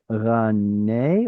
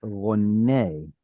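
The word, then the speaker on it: רָנֵּי: Okay, is it rane or is it rone? Rone, kamatz katan. It looks to me like there's a closed, unstressed syllable here because of the doubled nun. That makes it a kamatz katan rone.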